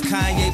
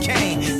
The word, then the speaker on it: Kanye: It's Kanye, but some of my plastics still say Kane.